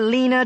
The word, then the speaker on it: Lena: You think I don't know about Lena Duquesne? I choked on my biscuit. Lena Duquesne.